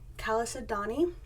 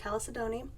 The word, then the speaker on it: chalcedony: I'm going to add Calais Adani which I looked up how to say it finally it's blue chalcedony it is the one